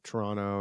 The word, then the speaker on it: Toronto: Toronto. Yeah, that's how Torontonians say it. Toronto. I know Americans say Toronto. Toronto. Like, yeah, Toronto. Toronto. Toronto. Yeah, I don't know. Toronto. They just get lazy with it when you're there.